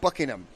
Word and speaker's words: Buckingham: uh but I guess the way we pronounce Buckingham Palace is not it's Buckingham so we don't want to emphasize the ham on buing it's buckingam we had too much ham huh yeah we a